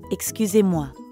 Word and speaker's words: excusez-moi: a bathroom, for example, you might not always hear the X sound at the beginning of excusez-moi.